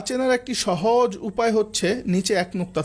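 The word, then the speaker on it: ث: হরফটার নাম হচ্ছে সা খুব পাতলা অক্ষর মানে পাতলা উচ্চারণ হবে সা নৌকা শেপ উপরে তিন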